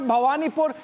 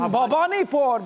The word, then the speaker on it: Bhabanipur: Niranjan, I must correct, it's not Bhabanipur. In writing, you write Bhabanipur, but when you pronounce it Bhabanipur, because in Bengal, you cannot play around with Bengali like that.